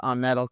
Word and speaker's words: Ahmed: you speak yeah hey everybody my name is Amed and if he could speak Arabic Ahmed